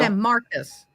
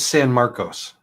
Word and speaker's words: San Marcos: San Marcus. Marcos. San Marcos. San Marcos. Marcus. I speak Spanish. It's San Marcos. San Marcos. We speak Texan. San Marcos.